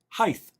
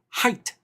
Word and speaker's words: height: The word height is not pronounced height. It is pronounced height because there is no TH at the end of height.